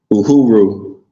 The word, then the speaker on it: Uhuru: Or how you pronounce it? Taye Uhuru. Taye Yeah. Hooper? Uhuru.